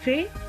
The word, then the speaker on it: fait: Au passé composé, le participe passé du verbe faire se termine par la lettre T qui ne se prononce pas. J'ai fait, tu as fait.